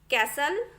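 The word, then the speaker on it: castle: नीचे दिए हुए जो भी शब्द है वहां पर टी को प्रोनाउंस आपको नहीं करना है। देखिए ये जो लिखा है वो कैसल, Christmas, listen, often, we shall, इस तरीके से आपको पढ़ना है।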